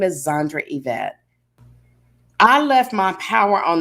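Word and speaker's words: Evette: is spelled and my middle name is yvette and it's not spelled like most events it's spelled e-v-e-t-t sometimes people used to call me and say evid oh you know they won't die this way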